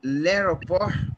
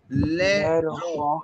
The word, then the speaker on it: l'aéroport: Now, l'aéroport. Repeat after me. L'aéroport. L'aéroport. T would not be pronounced. That would be silent.